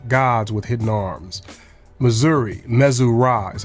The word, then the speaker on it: Missouri: group of four Gods with hidden arms Missouri mesura is how it's pronounced that means royal son or son of